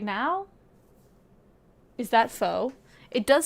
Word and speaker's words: pho: Is that pho? It does say pho on it. It's dollar store pho though, like literal dollar store food. So, dollar store pho.